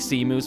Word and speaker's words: Seamus: Pronounced Shay moose. I guess you can use either one. Sea moose, Shay moose. Doesn't really matter. I like sea moose because it's kind of like funnier, but my name is not pronounced Seamus, so. Shay moose would be lore accurate. Sea moose kind of the more jokey one there.